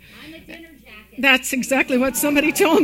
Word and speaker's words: Ahmadinejad: to have to say the name Ahmadinejad. I'm a dinner jacket.